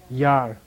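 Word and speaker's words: ཡར: Yar. Low tone, remember? 6th row.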